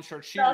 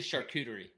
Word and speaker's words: charcuterie: I'm just a lone idiot that's been calling short shoes okay is it mixed pronunci pronunciation like do you hear different people saying different things oh yeah yeah yeah no doubt about it okay so it's officially charcuterie yeah cheese College that's one of our stops